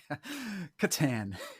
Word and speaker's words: Catan: How do you pronounce that game? Catan.